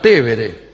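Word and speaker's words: Tevere: En realidad el río se llama Tébere. Nosotros le decimos Tíber aquí.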